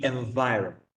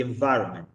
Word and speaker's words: environment: Pero the environment. Entonces, cuidado con esa N delante de la M, porque a la hora de escribirlo y tal, como digo, pues a veces trae problemas.